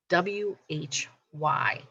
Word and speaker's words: why: question word here y w h y now the h is silent again don't forget it it's